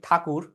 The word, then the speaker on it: ঠাকুর: হ্যাঁ, আমরা তো ট্যাগর, আমরা উচ্চারণ করি কি ঠাকুর।